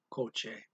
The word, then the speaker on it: kotse: They spell it with a TS for the CH sound. Okay. So I'm just going to read the ear tuning syllable exercise. Ear tuning syllables. Yung tungkol sa mga kotse.